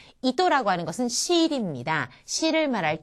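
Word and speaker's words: 糸: 토라고 하는 것이 첫음이 아니기 때문에 또처럼 들리죠? 이또. 이또라고 하는 것은 실입니다.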